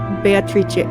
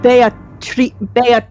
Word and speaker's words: Beatrice: I think it's Beatrice. Is I it think supposed it's the to be Italian? Yes, it's the Italian pronunciation. Because Okay, I'll do that too. In my head, when I was reading it, I did say Beatrice, but I'm pretty sure because Kinzo loves Western shit, it's Beatrice.